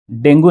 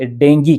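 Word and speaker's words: dengue: जी डेंगू नहीं इसे डेंगू कहते हैं। आप हैरान हो गए होंगे कि हमने तो हर जगह डेंगू ही सुना है। लेकिन अंग्रेजी में इसका प्रोनाउंसिएशन डेंगू नहीं है।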